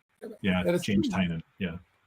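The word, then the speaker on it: Tynion: He named his company Tiny Onion specifically to help people pronounce his name. Like that's the whole point of the company. Is that right? Yeah. James Tinan.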